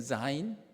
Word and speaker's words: 자인: 원래 한국 언어는 그 즈 발음, 지 발음과 G에 있는 그냥 G 발음에 구분이 없어요. 그래서 원래는 자인 이렇게 되어 있는데 그냥 자인이라고 했습니다.